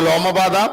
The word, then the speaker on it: Lomapada: So Shanta's tale, where Dasharatha had a daughter who was given away to Romapada or Lomapada, both pronunciation comes, so that she will bring Rishyasringa and does the Putragameshti, and thus he will get sons.